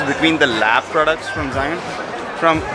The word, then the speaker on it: Zhiyun: Zhiyun. Zhiyun? Yes. Zhiyun. Sorry guys, I've been pronouncing it wrong all this time.